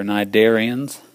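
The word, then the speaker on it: cnidarian: Next on the list are nidarians. Nidarian includes your jellyfish, your sea an enemies, your corals, your hydras. They're all nidarians. Yes, it starts with a sea, but the sea is silent. Pronounce it nidarian.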